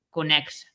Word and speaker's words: conexa: Ven no dicionario da Real Academia Galega, pero só se pode pronunciar con KS, conexa.